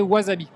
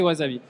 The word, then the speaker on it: wasabi: à la télé passe un film qui est wasabi. Ah yes. Alors qui en qui en japonais se prononce Wasabi he ? S prononce S enfin ce en japonais mais en français c'est Wazavi et je regarde le film avec Jean Renault